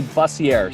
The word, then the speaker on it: Buzzier: whole life but it's it's actually buzzier so dave bustier i